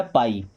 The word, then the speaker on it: pie: PIE, पी से बना प, और IE से आई बन गया, तो ये हो गया पाई।